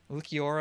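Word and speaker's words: Ulquiorra: So it's going to be Hollow Ichigo versus, is that Ukiora? Is that how you say it? Yes. Ukiora.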